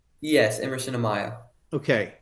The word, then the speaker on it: Amaya: Emerson Amaya, is that how you pronounce his name? Yes, Emerson Amaya.